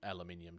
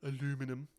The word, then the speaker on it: aluminium: know that you actually if you look the spelling we we do pronounce it correctly yeah I know which is ironic because you guys get teased over saying it wrong all the time um also you guys actually pronounce it the way that the guy invented it said right exactly that that's